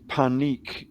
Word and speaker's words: Panik: So what does Panich mean, or Panik? Because I think it in the Aramaic it has more of a hard K on the end and not a soft C. So it's Panik.